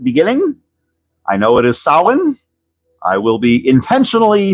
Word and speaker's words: Samhain: me in the comments, I know that the Celtic pronunciation of the fall festival associated with Halloween is sin. But that is not how this villain's name was pronounced in the real Ghostbusters cartoon.